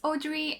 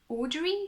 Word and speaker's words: Audrey: I should tell you I have no clue how to properly pronounce my name in English because we pronounce it very differently in French in French we say